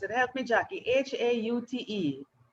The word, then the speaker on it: Haute: Haute. Haute, like haute couture, Haute Haute, couture.